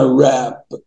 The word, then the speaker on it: wrap: Wrap, اي W في الدنيا تلاقي بعدها R ما تنطقش الW. كلمة دي اسمها راب.